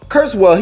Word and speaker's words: Kurzweil: is that still far-fetched is that still far-fetched no and then rake if i'm pronouncing his is his name right ray kurtz kurtz well kurzweil he said that by 2025 and 2045 will